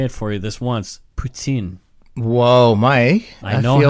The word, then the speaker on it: poutine: Poutine. Whoa, Mike. I know feel how like to pronounce you just...